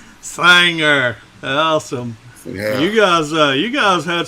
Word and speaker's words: Singer: So a little rural community called Singer. But a lot of folks around here pronounce it Sanger. Sire. Sanger. Yeah, it rhymes with Fanger, Sanger.